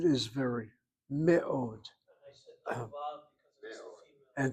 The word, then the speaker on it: מאוד: ma'od. Me'od is very. Me'od.